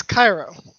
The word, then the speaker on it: Cairo: like going any further, is it Kiroi? Is it Cairo? Like, how do you say your name? I'm pretty sure I was saying it right the whole time. It's Cairo.